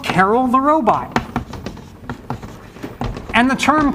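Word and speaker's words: Karel: in the room but closer to the actual pronunciation but we say Carol these days because it's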